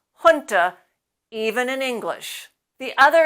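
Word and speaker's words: junta: from other languages hun comes to English from the Spanish language you can see the meaning here sometimes you'll hear native speakers pronounce that as janta but they're wrong we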